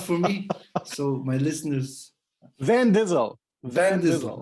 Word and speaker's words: Van Dizzle: me so my listeners van dizzle like like driving like van busel but like the actor vince not not like vin diesel no it's van gizzle okay great yeah so